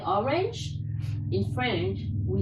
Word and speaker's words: orange: Just the pronunciation is different. In English, we say orange.